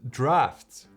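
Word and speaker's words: Draughts: popular Cafe in London uh which is called drafts yeah I want to pronounce it draws all the time and I was corrected multiple times yeah somebody decided it's draft so let's say draft all right not only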